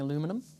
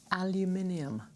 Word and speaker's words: aluminium: What do Americans get wrong about the UK? Pronouncing aluminum. Aluminium. Aluminium. Everyone. Aluminium.